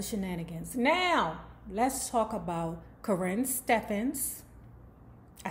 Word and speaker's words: Karrine Steffans: Now, let's talk about Karrine Steffans. I said it right this time. No, fuck her. Karrine Steffans, because what you won't do is shiz on my Teddy P.